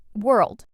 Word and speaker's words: world: Word number 9, world.